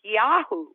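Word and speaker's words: יהוא: goes after jezebel but in hebrew it's pronounced pronounced yahoo goes after jezebel and he has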